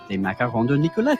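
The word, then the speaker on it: Nicollet: Nichollet.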